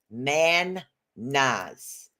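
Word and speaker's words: Mannaz: and again it's pronounced man Nas you just kind of separate it right down the middle there and and of course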